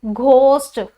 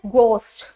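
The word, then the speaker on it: ghost: को कैसे प्रोनाउंस करेंगे, हम पढ़ते हैं जी घोस्ट, घ लगा देते हैं, लेकिन एक्चुअल में ये क्या होता है, गोस्ट, ठीक है। तो जी एच यानी जी के साथ एच लगेगा तो उसकी प्रोनाउंसिएशन हमेशा क्या होगी जी, ग, ना कि घ।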